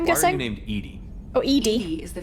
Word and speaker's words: EDI: are you named Edie? Oh, ED. ED is the phonetic pronunciation EDI, of sorry.